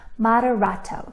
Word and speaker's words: moderato: Moderato. Can you say that word with me? Moderato. Now, if you're a big kid, you might recognize another word in moderato. It kind of sounds like the word moderate, right?